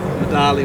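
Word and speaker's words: Medaglia d'Oro: Is it the Medagli Dora? Thanks, Nancy. Did you get it right? I don't know. Huh? I don't know. You don't pronounce the G. Medali or... Medaglia Dora? Yeah.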